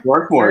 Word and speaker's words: Swarthmore: Robert, Sue, from all the way from Swarthmore, or is that how you say it? Swarthmore? Swarthmore, yeah.